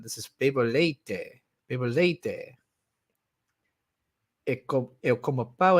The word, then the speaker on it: leite: I saw it was with a T, but the way they pronounce it in the app sounds like they're saying leche.